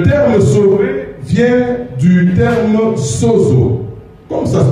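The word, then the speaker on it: σῴζω: En grec, parce que la Bible, le Nouveau Testament est écrit en grec, le terme sauvé vient du terme sozo. Comme ça se prononce, S-O-Z-O.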